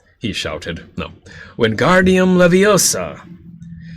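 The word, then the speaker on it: Wingardium Leviosa: arms like a windmill you're saying it wrong Harry heard her miny snap it's when guardium levosa uh make the gar nice and long you do it then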